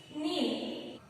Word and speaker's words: kneel: Next, kneel. So here I am pronouncing na sound. Kneel. Because here K is the silent letter.